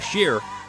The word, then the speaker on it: Scher: that for me I can do that Mike shear on the line or sure I feel like I'm pronounced pronouncing your last name is sure sure here share got it Cher I apologize Mike and we were talking about